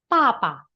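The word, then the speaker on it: 爸爸: Contoh yang pertama ada bacanya apa ini tulisannya baba dibaca menjadi papa. Papa B berubah menjadi huruf P. Papa. Kemudian ada mama. Ingat ya nadanya nada satu. Karena tadi ee papa nada empat, jadi bacanya papa agak dihentak papa.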